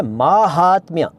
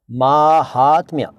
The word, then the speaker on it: माहात्म्य: सी बात बताऊंगा कि यह स्पेलिंग जो है वो ठीक नहीं है सही स्पेलिंग है माहात्म्य माहात्म्य महात्म्य नहीं माहात्म्य ठीक नेक्स्ट व्यंग शब्द आपने